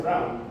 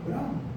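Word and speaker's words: de Bruijn: Ah, no, porque según Camilo se pronuncia Brown. Brown.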